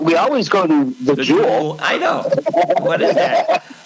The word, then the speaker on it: Jewel: Remember, you corrected me for saying that grocery store's named Jules. I say it wrong. Jewel Food Store, yes. Yeah, Jewel. Yeah, Only in Chicago calls it the Jewels.